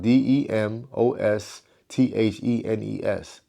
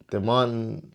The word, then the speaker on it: Demosthenes: The Demosthenes, let's sound this out y'all. Let's let's spell it out. D E M O S T H E N E S. Demosthenes Demosthenes Demosthenes One of the